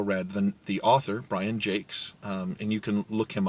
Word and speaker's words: Jacques: than the author brian jakes and you can look him up the last name is spelled like jacques um like jacques cousteau the redwall series is